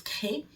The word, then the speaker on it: Crest: Elle s'écrit Crest, mais ça se prononce Cré.